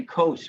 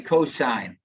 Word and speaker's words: cosine: don't pronounce that sin we don't say cos we say cosine we say tangent so